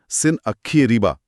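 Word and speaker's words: Sîn-aḫḫē-erība: सिनारेब स्रोत इसका उच्चारण सिन अखी अरीबा के करीब बताते हैं।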